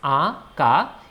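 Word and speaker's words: আঁকা: When you see, it's aka. The pronunciation will come from nose, aka.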